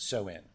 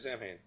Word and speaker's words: Samhain: I was pronouncing it Samhain. Soin? Soin, yeah. Okay, so they must have learned English. Even though it's spelled Samhain, it's pronounced Soin, which makes perfect sense.